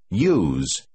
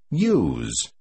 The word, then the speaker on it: use: Từ số 9 được phát âm dường như là nó bắt đầu bằng con chữ Why? Hãy nghe và nhắc lại. Use. Use. Hãy lưu ý một lần